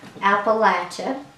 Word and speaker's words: Appalachia: Appalachia. And as some would say, if you don't say it right, we'll throw an apple at you.